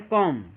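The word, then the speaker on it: comb: है कम याय देखिए ये बी के पहले अगर एम आ गया है तो बी क्या हो जाएगा साइलेंट हो जाएगा बी को नहीं पढ़ा जाएगा बी जो हो जाएगा वो साइलेंट हो जाएगा इसलिए इसको कम नहीं पढ़ ये क्या है कम इतनी से बात समझ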